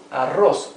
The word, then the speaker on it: arroz: Here we have arroz, rice. Arroz. First syllable a, later ros.